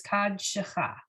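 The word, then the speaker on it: קדשך: You're right that the root of the word is kadosh, but in this case, they've added some syllables, right? Some vowels, so it's kad shecha.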